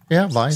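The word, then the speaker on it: Wiest: correct my pronunciation, Tobias Weist, is it? Oh, I don't have it in front of me. It's W-I-E-S-T. Weist. So it's German, I guess.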